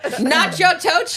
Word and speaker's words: Natchitoches: How would you pronounce that? Natchitoches? Nacho Tochis.